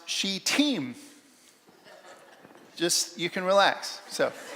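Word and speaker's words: Shittim: I look this up it's pronounced she team just you can relax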